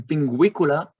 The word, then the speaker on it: pinguicula: In pinguicula, you hear not the U but the W.